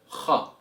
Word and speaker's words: خ: And the letter kha is a heavy letter, and its sound is equivalent to the kha sound as in the name Bach, who is obviously a famous music German composer.